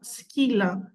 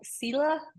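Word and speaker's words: Scylla: part of Odyssey yes it has two pronunciation okay pronunciations it's either S without um the S without saying the s or skila which actually in Greek as well yes I said the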